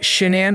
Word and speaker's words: Shanann: Pronounced Shanann by friends and Shannon by her family, she grew up with her younger brother, Frank Jr., or Frankie, in Aberdeen, North Carolina.